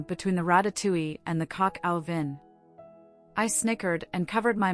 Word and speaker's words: coq au vin: "It's coq au vin," I told him, dragging out the words so he could hear the proper pronunciation.